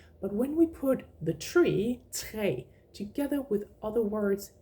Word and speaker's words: tre: When it's like that, when it means a tree, we would say tre. The pronunciation is exactly the same as the number 3, but when we put the tree, tre, together with other words, it becomes tra.